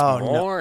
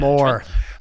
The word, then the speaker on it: Mawer: culture yeah absolutely well you did pronounce my name right um but you didn't pronounce a firm name right which is more investment man more more I apologize as